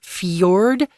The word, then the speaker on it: fjord: into the sea and the word Fjord can also be pronounced fiord right you can do fiord or fiord um these are narrow